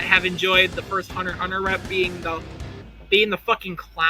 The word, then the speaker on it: Hunter x Hunter: hits of matchup where Hunter Hunter kilowatt is an assassin basically so Xing them out and the X in Hunter x Hunter is silent I'm gonna spite some